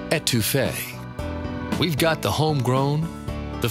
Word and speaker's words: étouffée: And just so you know, it's pronounced étouffée.